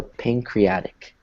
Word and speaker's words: pancreatic: So if you break it down, it's kind of like this, but the D is soft, right? So pancreatic. Pancreatic. Actually, let's change it even a little bit more and take out that D, because it's almost like the T disappears.